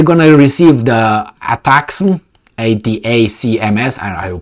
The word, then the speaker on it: ATACMS: you can they're gonna receive the attacks on Ada CMS and I will pronounce this atacms they say here that uh Army tactical missile